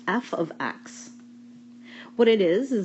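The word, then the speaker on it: f(x): So this is pronounced f of x.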